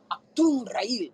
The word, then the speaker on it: Achtungrael: Achtungrael.